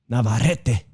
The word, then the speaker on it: Navarrete: only lost to say it right again dave navarrete that's right two time losses to navarrete oh